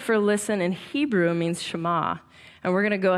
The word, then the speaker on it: Shema: Now, the first word of the Shema is hear, or listen, which in Hebrew is pronounced Shema.